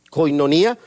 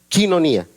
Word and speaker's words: koinonía: una palabra griega que la mayoría la pronunciamos como la vemos escrita se escribe koinonía conca koinonía pero la correcta pronunciación esquí no ni a chino ni a es la correcta pronunciación